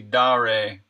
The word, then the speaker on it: Dare: Yeah, no, some people apparently Rocket Bunny, the official way to say it is actually Dare.